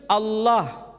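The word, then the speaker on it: الله: kalangan masyarakat Timur Tengah ketika menjumpai istilah alif lam lam ha dibaca Allah tetapi mereka serempak menyebutnya dengan pronunciation Allah menyebut dengan sebutan Allah Allah ini tidak dikonstruksi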